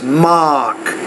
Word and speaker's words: mock: mom talk on mock sometimes you're kind of pronouncing that more as the O the log but it's mock so I think it